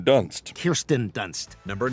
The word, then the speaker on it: Kirsten: He was in Spider-Man with Kristen Dunst. Kirsten Dunst.